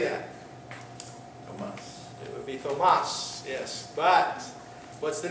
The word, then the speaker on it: Thomas: You ever wonder why Thomas is spelled Thomas? You never wondered that? It's not, we don't, when we call him Tom, how do we spell it? T-O-M. But Thomas has the T-H. It's not Thomas. This name originates in the Greek, and this is where we sometimes get these strange spellings.